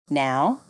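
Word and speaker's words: know: examples of silent letters silent k knife KNE no repeat after me knife knee no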